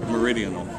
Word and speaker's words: Meridian: wikipedia that's true how do you say it meridian okay i must have run it to my